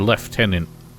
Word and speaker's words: lieutenant: and someone from Britain explained to me why the word left tenant doesn't have an F in it in fact is spelled like Lieutenant and you're his personal